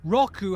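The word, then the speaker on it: 六: the Japanese 4:6 is rock rock ooh sounds like the word Rock this is rock rock who is the king of rocking and rolling remember Roku has a wide round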